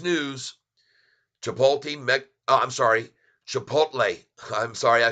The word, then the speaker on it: Chipotle: they just started and it says here that chipot is going to be giving and this was from yesterday's news chipot me I'm sorry Chipotle I'm sorry I said it wrong again Chipotle